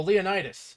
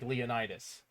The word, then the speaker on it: Leonidas: Say Leon, as in like Leon, like on the stream panel right Huh. now, and then like continue to like Leonidas. That's how you remember how to pronounce Leonidas.